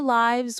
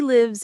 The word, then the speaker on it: lives: When it's the plural of life, it's pronounced like wives with a long i sound. Their lives were fulfilling.